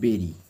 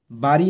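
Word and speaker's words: buried: বা কবর দেওয়া তো এর উচ্চারণটা হবে বেরি বাড়ি নয় কিন্তু বেরি দেম সেগুলোকে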